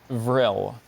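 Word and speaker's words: vrille: real real can you repeat the word please vril and this is French right it came from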